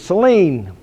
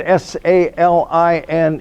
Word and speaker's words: Saline: now we're coming to outside of Ypsilanti is Celine I always wondered why now if you did not know that was a city's name but you saw the word s-a-l-i-n-e how would you pronounce it Saline it's the